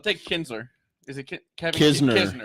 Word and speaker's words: Kisner: Is it Kevin Kisner. Kisner. Kevin Kisner. All right, who's your third pick there, Big Z? Kisner's not a bad choice.